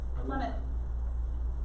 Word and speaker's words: Plymouth: Remember, Plymouth is how you say it, so what is the year for the founding of it?